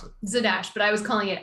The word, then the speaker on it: Zadash: it's a dash i don't know how to pronounce it zadash but i was calling it azadash what is this paddy wack a paddy wack